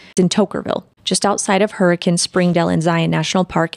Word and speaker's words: Hurricane: I know it's spelled Hurricane, but the pronunciation is Hurricane.